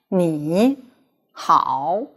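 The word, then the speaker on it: 你好: together in fluent speech if you keep the original tone you would feel that pronunciation is a little difficult like how but if change the first acetone into second tone you will feel that it is much easier to speak like me how is innate when there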